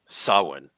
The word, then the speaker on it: Samhain: uh evil plot of samhain or sawin as as many jokes those familiar with the occult pronounce the name or the first episode